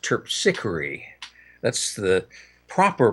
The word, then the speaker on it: Terpsichore: well I've read that it's supposed to be pronounced terpsichore that's the proper pronunciation but I think it is but I think in this country people call it terpsichore and but the original meaning in Greek was